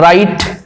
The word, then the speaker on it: write: তারপরে আসছি দেখো W, the last letter W, উদাহরণ দিচ্ছি দেখে নাও, রাইট, ধরে নাও রাইট, এখানে W উচ্চারিত হচ্ছে না, WRITE রাইট, W বাদ